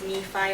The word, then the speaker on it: Nephi: I used to pronounce Nephi as Nephi or Lehi as Lehi, and I think that's because of like the Spanish kicking in.